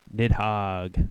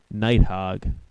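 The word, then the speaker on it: Nidhogg: a small thing like the pronunciation of the game I think it's actually nigh hog oh cuz it's like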